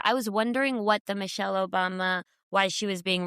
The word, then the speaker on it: Michelle: it was funny that he said Moshelle Obama. I thought that was going to be the whole clip was that he mispronounced her name in like a a pretty silly way.